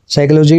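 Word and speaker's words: psychology: है साइकोलॉजी ठीक है साइकोलॉजी में पी साइलेंट होता है यू नो वेरी वेल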